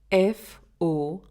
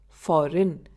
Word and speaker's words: foreign: We spell it as FOREIGN, but we pronounce it as foreign instead of foreign.